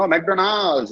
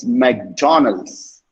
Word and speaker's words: McDonald's: No, McDonald's. நீட்டி கொண்டு போகாதீங்க மெக்டொனால்ட்ஸ் வரைக்கும். Okay, it's McDonald's. McDonald's. McDonald's. Okay, say that to yourself. McDonald's.